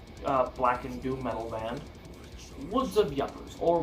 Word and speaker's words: Woods of Ypres: and doom metal band, Woods of Yuppers, or Woods of Ypres if you want to pronounce it that way, but I pronounce it Woods of Yuppers because it looks like yuppers.